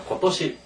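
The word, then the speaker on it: 今年: 읽을 때 어떻게 읽냐에고 또시 이렇게 얘기합니다 같이겠습니다 고도시 고도시 올해 또는 금년 그래서 작년은 이제 두 가지의 발음이 있어요 하나는 엔 또 하나는 사근 예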